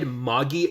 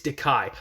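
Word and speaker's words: Dakai: the only ones uh I just said MGI I looked it up I was like that sounded wrong it's diai I probably got his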